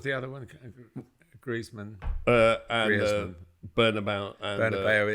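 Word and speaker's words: Bernabéu: Mark says the British just refuse to pronounce things properly. Bernabeu, Nou Camp, Antoine Griezmann. It's Bernabeu, and I did it in the last letter that I did.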